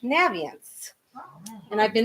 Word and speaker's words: Naviance: that the name of this product is actually pronounced naviance and i've been mispronouncing it for seven years